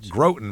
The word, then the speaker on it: Groton: It's Groten, Massachusetts. So I or Graten, however you want to say it's I know it's Groten, but I don't know